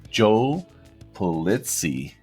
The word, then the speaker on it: Pulizzi: godfather of content marketing the one and only joe plitzy that pronounced the name said that perfectly how did